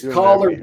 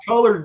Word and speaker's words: collard: It's collard, not colored greens, Johnny.